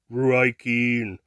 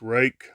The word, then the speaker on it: Ruike: If you haven't seen any videos, when they first came out, people were calling all kinds of things Ruike, but it's actually pronounced Rake.